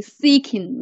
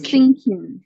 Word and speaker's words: seeking: And you should pay attention to seeking, not n. There is no phonetic syllable n. Seeking. Seeking. Yes, perfect. Yeah, not thinking.